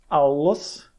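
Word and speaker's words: αὐλός: Você vai falar o primeiro deles fechando uma sílaba e o outro abrindo a sílaba seguinte. Por exemplo, aulos, certo? 2 L's, ele acaba, né, cada L tem o seu próprio momento.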